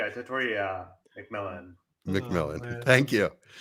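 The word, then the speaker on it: Tetairoa: Tatoria McMillan. McMillan. Oh, Thank you. And that's how we're officially going to pronounce his name.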